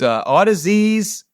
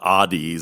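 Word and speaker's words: Audeze: That's Audisies. I still call it Oddies sometimes if I'm not paying attention.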